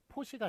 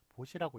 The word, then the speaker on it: 보시: 그러니까 뭐 도와주는 것 이런 걸 이제 보시라고 그러는데 그 보시할 때는 보라고 읽는 것을 포시가 아니라 보라고 보시라고 읽는 것을 맞게끔 하였습니다.